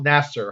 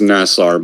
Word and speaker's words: Nassar: And the third person I'll be introducing is Nasser. How are you doing today? Actually, it's pronounced Nassar, but you got the syllable usage right.